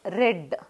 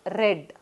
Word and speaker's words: read: word as pronounced as red here in the simple present tense we used to pronounce as read but in past tense same read is pronounced as red okay they read the